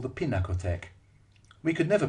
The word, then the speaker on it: Pinakothek: to what the Munichers prefer to call the Pinakothek. We could never pronounce Pinakothek properly. We called it Piniosek, Pintaktek, and the Happy Tack.